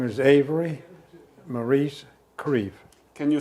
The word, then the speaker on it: Creef: is your name my name is avery maurice creve can you spell it a v e r y m a